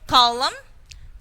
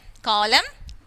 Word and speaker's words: column: of d next here column condem column condom we are not pronouncing n here and here psychology psychology